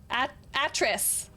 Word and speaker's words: Atris: Atris. Sorry. Atris? Hard A-tris. Atris.